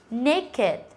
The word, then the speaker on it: naked: wicked, wicked và từ naked, naked. Thì hai từ này là hai từ mà chúng ta kết thúc không phải là t và d nhưng mà vẫn đọc là it.